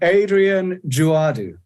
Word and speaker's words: Adrien Djouadou: you man good uh just to check did I did I get the pronunciation on your name remotely correct well I think so can you repeat it just I said Adrian joadu well honesty perfect ah wonderful that's a